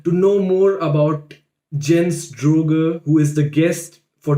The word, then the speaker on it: Droege: Okay, and how's the actual pronunciation? You were pretty right, Droege. Droege, okay.